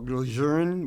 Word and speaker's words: Lejeune: slim I was at Camp Lejeune or glozern which is the correct way to pronounce it and I had prostate cancer at the age of 42.